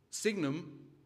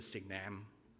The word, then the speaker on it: signum: Signum, dropping the U I'm happy enough to put up with. Signum, never signam, but signum's fine.